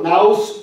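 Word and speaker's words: νοῦς: 이게 뭐냐면 renewing of mind, 이 우리의 마음, 이걸 헬라어로 영어 발음으로 나우스 또는 누스라 그래요.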